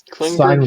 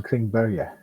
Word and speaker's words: Klingberg: It's actually more pronounced of a Berge, like John Klingberg.